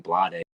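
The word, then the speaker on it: Bladee: Blade or Blade? I don't know. It's Blade. It's just That's pronounced fucking Blade. retarded. Why does it have two E's then?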